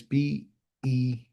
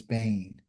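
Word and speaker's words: בין: Bane is B-E-N. Okay. It would say Ben, but it's Bane.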